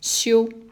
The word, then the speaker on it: 休: This is resting and is pronounced as 修.